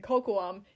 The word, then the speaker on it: Kokoum: And like he was like completely biffing it on pronouncing Kokoum.